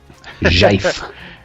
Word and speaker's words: GIF: It is pronounced GIF, kids. Jife. Yeah, the creators of the format, of the GIF format, pronounce it GIF.